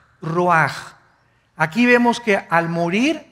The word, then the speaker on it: ruach: Isaac cosa el ruaj que se escribe r u a c h ruach en el hebreo y se pronuncia igual ruaj Aquí vemos que al